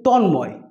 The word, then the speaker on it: তন্ময়: দেখব একটা উদাহরণ কিন্তু তন্ময় এই সমস্ত শব্দে ম ফলার উচ্চারণ কিন্তু লক্ষ্য করা যায় আবার দ্বিতীয় নাম্বার আরেকটি